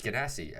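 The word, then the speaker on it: Genasi: and uh uh water ganassi or china um or guinness i don't wanna whatever you're gonna call no one knows how to pronounce it um it's gedassi and you can change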